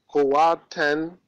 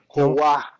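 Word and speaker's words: قوة: Say kuwa. Don't say kuwatan. This is wrong. This is wrong. Say kuwa. Okay. So I don't read the one at the top. Read okay. it. Okay. Read I it. Read it, but you cannot say kuwatan, you will say kuwa. Because ta tanween at the end is pronounced like ha, kuwa.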